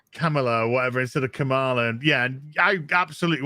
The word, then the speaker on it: Kamala: of that news article how do you pronounce kamala kamala because like joe biden calls her like hamilah camel camella camallo sometimes he calls her